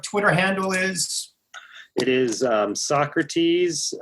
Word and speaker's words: Sawcruhteez: It is Socrates, spelled like it's pronounced in the dictionary, SAWCRUHTEEZ.